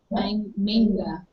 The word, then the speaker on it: manga: This is after this, and so she's reading manga. I put it on my dictionary app on my phone to hear how they pronounce it. They pronounce it manga.